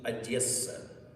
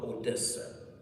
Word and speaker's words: Odessa: adessa and please note the correct pronunciation of the city is adessa not Odessa Odessa is a down